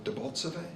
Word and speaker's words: Debaltseve: than there was advance by the Russians into Debaltseve. Is that right? Am I pronouncing it correctly?